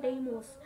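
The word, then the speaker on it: Deimos: is having two moons which is Phobos and demos actually here it is written Daimos but we pronunciate like demos therefore the planet is the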